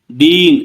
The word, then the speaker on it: deign: "Deign"— 'G' ఉచ్ఛరించబడదు.